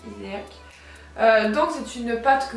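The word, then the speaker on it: Hyséac: Donc c'est la Iséac, ça dépend comment vous le prononcez, moi je dis Iséac.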